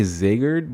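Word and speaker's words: Zagred: the way guys uh I just found out how I had to pronounce his name apparently zagerd but it's it's spelled like zagreed so I kept saying it it's weird but I'm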